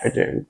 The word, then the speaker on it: Ardern: Zealand's former Prime Minister, Dame, how do I pronounce it? Jacinda Ardern. Yes. Ardern.